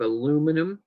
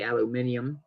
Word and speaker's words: aluminum: These are made of aluminum or as the Brits say, aluminum.